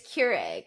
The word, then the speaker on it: Keurig: People let me just go by saying Keurig for the longest time. Keurig. That's the new title of the episode. I don't like it. Yeah, I don't like it. Crew egg. So it's spelled crew egg.